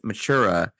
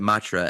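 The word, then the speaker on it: Mathura: in a city called Matra which is actually pronounced matura but the the residents that live there all call it Matra as sort of like a a slang for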